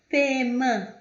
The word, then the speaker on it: paiement: O A e o Y tem som de E, paiement, paiement, pagamento, fontaine, fontaine, fonte, fonte.